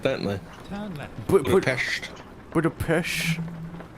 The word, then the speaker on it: Budapest: Budapest. Like Budapest. Budapest. Yeah, like a pesh.